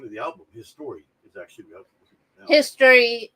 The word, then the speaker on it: HIStory: The album would be pronounced His Story. His Story. That's actually how it's pronounced.